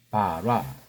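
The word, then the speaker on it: ברא: 자, 이것도 바라라고 읽죠. 바라.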